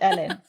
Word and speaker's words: Elin: pronouncing your name right is it Ellen or elen no you pronounced it perfectly ah okay it's Ellen I'm always conscious about